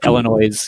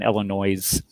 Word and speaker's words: Illinois: kind of like the S in Illinois. Yeah, so. Yeah, Illinois. Yeah, we're all moving to join red in Illinois.